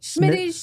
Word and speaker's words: Schmitty's: Schmitty's Snippets. Smitty's Snippets. Schmitty's Snippets. No schmeh. It's not Jewish. Just Smitty. Schmitty.